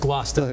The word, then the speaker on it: Gloucester: It's actually pronounced Glouester.